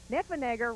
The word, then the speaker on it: Neffenegger: That's why his name, Neffenegger, rhymes with Schwarzenegger.